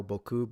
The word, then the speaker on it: Boku: Are they going to say or or as they use pronounce it now, Boku? But I'm old school, so I pronounce it Boku.